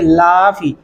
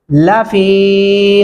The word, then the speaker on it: لفی: لافی، لافی نہیں کرنا اس کو، لفی خسر۔ پوری آیت کو سن